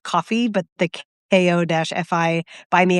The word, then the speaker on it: Ko-fi: those Ko-fi, I think it's actually pronounced just coffee, but the KO-FI, buy me a coffee, like, tip jars?